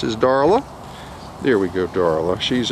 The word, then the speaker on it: Darla: darla there we go darla she's it rhymes with darling doesn't it can't say darling without